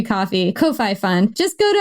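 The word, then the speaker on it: Ko-fi: It's spelled Kofi, but I guess it's supposed to be coffee.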